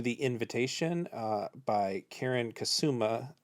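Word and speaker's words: Kusama: invitation uh by Karen kasuma or I believe it's pronounced Kazuma uh who had a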